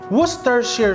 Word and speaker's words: Worcestershire: Worcestershire sauce because I follow those who commented that said that we're from UK, this is the correct pronunciation but if there's more